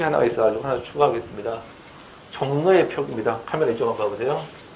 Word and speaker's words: 종로: 종로는 발음이 어떻게 되냐면 종로 이렇게 발음납니다. 그래서 종 쓰고 노 이렇게 써줘야 되는 거죠.